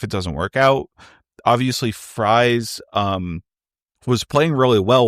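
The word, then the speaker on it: Fries: and my favorite signing is Right Guard will friy um you know my name is Matt free it is spelled f r i s just like will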